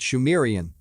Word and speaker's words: Sumerian: He writes, it is also reckoned that the subsequent culture of the region, phonetically called Sumerian, pronounced Shumerian, was actually Sidmurian, Shemurian.